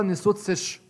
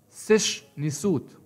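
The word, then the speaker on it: sš nswt: لقب زي اللقب ده لو هقرأه من الشمال لليمين اليسار إلى اليمين هقرأ نسوت سش, ولكن ده كلام غير صحيح, ولكن تنطق سش نسوت, أي الكاتب الملكي, كاتب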